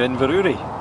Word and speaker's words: Inverurie: Hi, welcome to Inverurie.